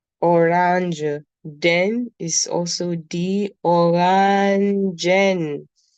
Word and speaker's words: Orangen: Then is also the orangen. Look, I emphasize on the E. Alright. I emphasize on the N at the end of it.